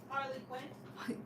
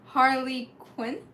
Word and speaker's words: Harley Quinn: ever saying her name right in Japanese we pronounce her name as hary Queen Harley Quinn see it's so different yeah Harley Quinn and did Gotham have her no well